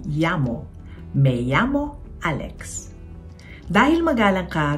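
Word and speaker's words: llamo: Ang meyamo may double L din kaya ang pag-pronounce naman nito ay yamo.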